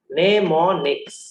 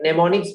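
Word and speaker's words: mnemonics: सीखो नया नया चीज, नेमोनिक्स। सर बट ये तो MN आप लिखे, हाँ M साइलेंट है बेटा, ठीक है। नेमोनिक्स बोला जाता है।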